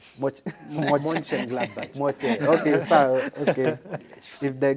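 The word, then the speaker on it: Mönchengladbach: Monchengladbach.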